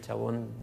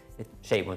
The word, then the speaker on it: Chabon: muy bonita de Michael Chabon se escribe, pero no es el Chabón, en fin, Chabon se lee.